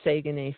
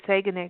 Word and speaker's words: Saguenay: You said Saguenay correctly compared to me. You got it. You know how to say it. Saguenay, not Saguenay. I know.